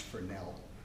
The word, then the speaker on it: Fresnel: This is a French guy, so I think it's actually pronounced Fresnel.